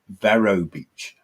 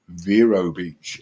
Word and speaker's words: Vero Beach: this quite hilarious because most British people when you go for the first time it's always Vero Beach I'm going to Vero Beach and then when you turn up and you realize I'm mispronouncing this I better change my pronunciation because I feel very British and it very quickly becomes Vero Beach and you suddenly I